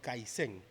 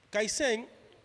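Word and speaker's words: kaizen: Hay un término japonés llamado caisén. Se escribe así, caisén. K a i z eh e n. Caisén. Kaisén básicamente es mejora continua.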